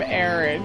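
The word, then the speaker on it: Auron: back at her running away, looks back at Aaron, looks back at her, and then he runs off, and then Aaron's just kind of standing there, and then he I love how you call him Aaron.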